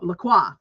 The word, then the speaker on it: LaCroix: Now this character LaCroix, I know it's spelled LaCroix, and I'm just like, fuck, no, LaCroix.